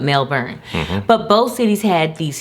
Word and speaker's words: Melbourne: Not Melbourne as we pronounce it here in America, but Melbourne.